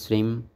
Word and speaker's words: শ্রীং: শ্রী উচ্চারণ হবে শ্রীম, নম উচ্চারণ হবে নমঃ।